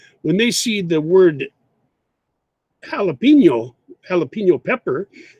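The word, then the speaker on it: jalapeño: and the spellings, and I know that Spanish people pronounce the letter J like the letter H sound. So, for example, English speakers make mistakes too. When they see the word jalapeno pepper, it's spelled with a J.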